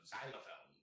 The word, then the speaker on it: xylophone: And before I get the xylophone crowd, right? Xylophone is pronounced with a Z. It is spelled with an X.